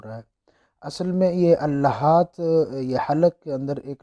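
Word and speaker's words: اللهاة: Number پہ ہے اللحات، اسے لحات بھی پڑھا جاتا ہے لیکن عربی میں اصل اس کا تلفظ جو ہے وہ اللحات ہے۔ تو یہ ایک عضو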